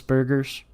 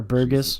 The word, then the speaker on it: Burgess: was won by Jesus Burgers or Burgess. Burgess. Burgess. Yeah, I say it wrong because I have dyslexia, and in my head it always looks like burgers whenever I try to read it.